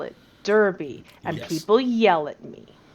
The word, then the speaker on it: Derby: y okay okay but if you live in the midlands you would pronounce this darby but i refuse because i'm american and there's an e in it so i call it derby and people yell at